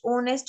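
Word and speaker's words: honest: ओनेस्ट, ओनेस्ट में एच की sound नहीं आती, एच को अंडरलाइन कर देंगे.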